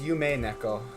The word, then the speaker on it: Yume Neko: Why did you say Yumi? It's Yume Neko. Because it's spelled UMI.